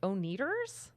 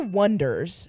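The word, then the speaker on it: Oneders: just the anders but the way they spell it everyone thinks it's oners but that's not how they want you to say it yeah so it is the Wonders but Jimmy was like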